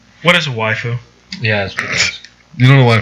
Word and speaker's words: waifu: A really exaggerated Japanese accent on the word wife. Waifu.